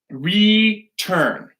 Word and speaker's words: return: So, return. Okay? So our stressed syllable here is the turn. That turn is stressed.